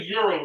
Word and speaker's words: gyro: It's a euro, really.